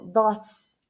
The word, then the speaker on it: does: Hay algunos verbos que tienen una pronunciación irregular en la tercera persona del singular. Ejemplo, do, el verbo do, hacer. Cuando, este verbo, al momento que se le agrega la S, se le agrega una ES a este verbo, does. Say, says. Ok, aquí hubo una pronunciación diferente al momento de agregarle la S.